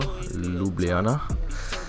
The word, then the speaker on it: Ljubljana: And we actually landed in the capital, Ljubljana. It's pronounced like that, I know, it's a fuck name.